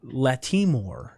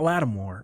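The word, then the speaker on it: Lattimore: one now um uh Latasha Latimore is how you pronounce it not Latimore I learned yesterday um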